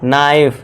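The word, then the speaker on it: knife: अब देखिए यदि एन से पहले और वर्ड के शुरू में के हो तो के साइलेंट होगा। एन से पहले क्या है दोस्तों? के है तो यहां पे के हमारा साइलेंट होगा और इसे क्या पढ़ेंगे नाइफ यानी कि चाकू। ठीक है दोस्तों? के को भूल जाइए।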